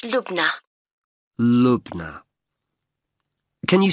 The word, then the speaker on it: Lubna: I have your first name yes it's lugna Lubna can you spell that for me l u b n a